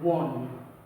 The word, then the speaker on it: one: This is not own, but we say one.